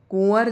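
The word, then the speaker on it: कुँवर: कुंवर जो है यह नाक से बोला जा रहा है। तो चंद्रबिंदु आएगा यहां पर कुंवर। इस तरीके से लिखा जाता है।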